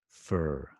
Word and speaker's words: fur: And then the American pronunciation is going to be fur, fur, fur, which is kind of difficult, I think, right? You've got two difficult sounds for Japanese speakers.